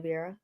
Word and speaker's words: Vieira: It's just Fabio Vieiraa.